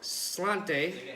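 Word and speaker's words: Sláinte: yeah but uh is the Irish say and we're probably gonna say this very wrong it's spell it's spelled his head spell it's spelled sl8 int II but we'll back at the end on the e so Slainte aka cheers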